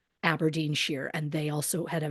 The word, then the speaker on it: Aberdeenshire: I wanted to say Shire because that's how it's spelled, but I did do, I Google videos from that town because I want to hear somebody say it, right. somebody I can trust. And the person said Aberdeenshire, and they also had a very thick accent.